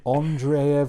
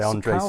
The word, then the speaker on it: Andrzej: The Witcher stories and bear with me this might be the incorrect pronunciation Andreev Sapkowski yeah I would say Andrzej Sapkowski yeah I think you got it yeah that's a good shout